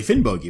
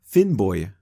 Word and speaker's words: Finnbogi: We are not pronouncing Finny according to modern Icelandic phenology. Now, if I heard it right on the YouTube video I watched, the name is actually pronounced something like Finnboya, right?